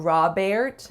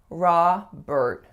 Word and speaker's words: Robert: For this one, make sure that your first vowel is really that open ah sound. And what I often hear my clients saying for the second syllable is more of an air sound, because it looks like there's an E followed by an R, which logically would be more air, but it's not Robert, it's Robert.